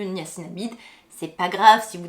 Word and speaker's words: niacinamide: alors oui on ne on a tendance à dire la gnassinamide c'est vrai que moi au prononcé tout ça j'aimerais dire la niace INAMI mais en fait normalement bon c'est le ni à sinamide c'est pas grave si